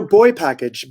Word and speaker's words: BoiPKG: up with the name it's spelled b-o-i-p-k-g so tell us a little bit about it no boy package boi because you own